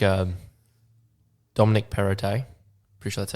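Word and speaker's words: Perrottet: i thought it was gonna like um dominic perotte appreciate that that's how you pronounce it irritating yeah that's it yeah he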